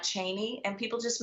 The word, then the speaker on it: Cheney: It's Cheney, not Cheney, and people just mispronounced it.